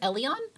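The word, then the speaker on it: Elean: and his name is elian i think i was saying alien before because it's spelled a lean but his name is elian uh ellie and duga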